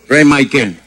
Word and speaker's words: Rey Mikael: Ray Michael. Ray. Ray. ¿Cómo es? ¿Cómo se escribe?